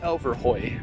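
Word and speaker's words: Elverhøj: Museum and I learned today that it is pronounced Elver Hoy but now we're heading down into town to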